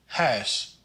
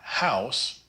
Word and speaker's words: huis: The UI blend is considered by many to be one of the hardest vowels to master. It's pronounced ow, like in the word huis. Not house, but huis.